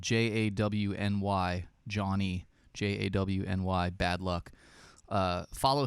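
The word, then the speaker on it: Jawny: and he he actually if you follow him it's spelled j-a-w-n-y johnny j-a-w-n-y bad luck uh follow him uh he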